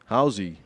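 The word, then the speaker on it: Hauze: Howy is spelled like H A U Ze like gauze with an H on the front.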